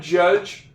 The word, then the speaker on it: judge: I got a couple silent E's. One in judge, one in have. There's other vowels in those words before the E that's at the end. Therefore, the E at the end of the word is silent.